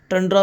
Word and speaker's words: tundra: हमारा second last है टेंड्रा ecosystem शुरू करने वाले हैं। वैसे टंड्रा भी पढ़ते हैं और जल्दी-जल्दी से हम टेंड्रा पढ़ते हैं। तो यदि टंड्रा इकोसिस्टम पढ़ते हैं हम फिर हम फिर सही प्रोनाउंस करते हैं।